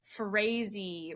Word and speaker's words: Frase: This is episode 16 I believe and today I am with Emily Frezy rhymes with crazy as she self-describes.